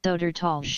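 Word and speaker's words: Södertälje: Sodtolsh.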